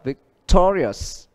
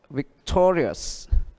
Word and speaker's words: victorious: Đó, nhấn trước nó một âm tức là victorious, victorious, chiến thắng ha.